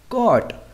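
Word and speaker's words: caught: silent boat mains खरीदना यहां पर वर्ड के अंत में जी टी ह ए रहा है तो गत हमारे क्या रहेगा साइलेंट कट मेंस पकड़ना यहां भी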